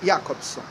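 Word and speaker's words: Jakobson: chamado Roma yakobson escreve jacobson é transliterado que o alfabeto alfabeto russo é outro né ao cirílico mas se pronuncia yakobson ele fala nas suas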